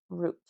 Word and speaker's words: Ruth: Ruth, American stylized name, Ruth. In Spanish, it sounds like root.